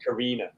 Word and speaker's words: Carina: It's pronounced Karina.